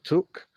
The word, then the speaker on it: Twc: There she is on her K plate, and this is why she's called Took, because W in Welsh is pronounced oo, so it's Took.